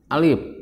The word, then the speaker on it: alif: yang pertama adalah huruf alif ini dibacanya Alif bukan A tapi Alif ya Ini bukan a.the tapi